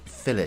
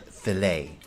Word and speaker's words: fillet: I'm using the British pronunciation of fillet here. In American English, it would be called fillet, a fillet knife.